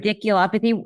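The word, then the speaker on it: radiculopathy: Um, and that new MRI confirmed degenerative disc disease uh with the cervical radial I can never pronounce this one right. Ridiculopathy.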